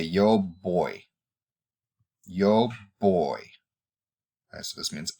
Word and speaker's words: voy: so you say yo boy yo boy so this means I go and notice that the V is pronounced like an English b as in bus some people use it